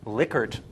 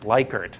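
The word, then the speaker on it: Likert: this is in the survey this is a liquer scale question how many people went no that's not how you say that word it's lyker the guy's name was rensis liquer l i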